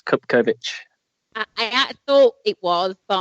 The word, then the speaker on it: Cupkovic: My surname, just for the record, it's Cupkovic.